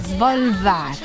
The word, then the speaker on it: Svolvær: Ricapitolando, siamo a Svolvær, pronuncia Svolvær, Preciso.